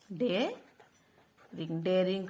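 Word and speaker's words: dread: आर आई एनज daring day रि daring का मतलब है साहस साहसी डी आर ई एडी ड्रेड पढ़ा जाता है ए जो है वह साइलेंट है ड्रेड ड्रेड ड्रेड का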